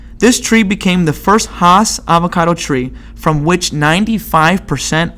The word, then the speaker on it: Hass: So it says most avocados eaten in America are Hass avocados.